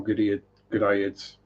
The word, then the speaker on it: Goodeid: But yeah, they had the red tail Goodeids. I keep wanting to say Goodeiid even though it's the wrong pronunciation. Probably something to do with growing up listening to Mark Goodyear on the radio.